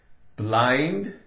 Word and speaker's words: blind: Blind, B-L, blah, I-N-D, I-N is in, D, duh. But it's not blend. This changes. I-N-D sounds like eind, eind, a long I sound.